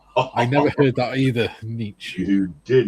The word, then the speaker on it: Nietzsche: Niche sounds awful. Yeah. It sounds like you've got lice or something like that.